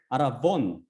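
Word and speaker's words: ἀρραβών: 이 말은 히브리에서 왔는데 히브리어 아라본, 헬라어는 V 발음 못합니다. V. 근데 여기서는 그렇기 때문에 헬라어는 이게 히브리어는 이 V, 베트가 B로도 발음되고 V로도 발음되거든요. 근데 여기서는 V, 아라본 입니다.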